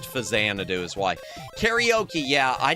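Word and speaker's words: Faxanadu: Yeah, I called it Fax Sanadoo. Still fight me. It's supposed to be pronounced Fazanadoo is why.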